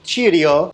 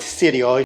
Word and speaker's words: Cirio: I say Sirio. Someone said, oh, it's pronounced Cirio. Cirio, not Sirio. It's Italian.